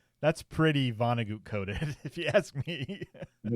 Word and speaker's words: Vonnegut: Vonnegut, not Goot. Vonnegut. I've never heard someone say Goot, but it's I don't know. It's spelled that way.